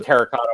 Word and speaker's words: terracotta: You get the terracotta walkers in there, and they just keep Hey, that's terracotta. Make sure you pronounce that R.